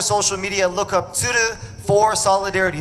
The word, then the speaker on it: Tsuru: I want to spell it out real quick. Are y'all cool learning a little Japanese? Tsuru, T-S-U-R-U.